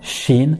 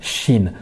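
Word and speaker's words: شين: on la prononce normalement Shin, Shin. Qu'est-ce qu'on va faire? On va prendre la langue, hein, le milieu de la langue à peu près, et on va venir le coller sur le palais.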